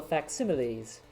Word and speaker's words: facsimile: Mere digital facsimiles.